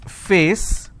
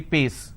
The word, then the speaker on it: face: There are some people who cannot pronounce the per sound, they replace that with a fur sound. For example, if I have a word which is face, they replace that and say pace.